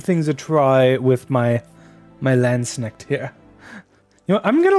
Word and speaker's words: Landsknecht: But let's just head to one of them and give things a try with my Landsnecht here.